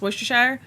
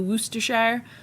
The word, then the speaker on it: Worcestershire: Did you see my response to your question on the community tab post about how to pronounce Worcestershire?